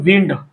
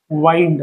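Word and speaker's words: wind: झाल स्पेलिंग सारखा आहे आता एकाचा उच्चार करत असतो आपण विंड आणि एकाचा उच्चार तुम्हाला माहित नसेल तर इथं सांगतो मी वाईंड काय करत असतो?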